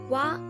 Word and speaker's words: は: The fa sound shifted into more of a ha sound, and later it was standardized that wa in words was pronounced ha, and as a particle was pronounced wa.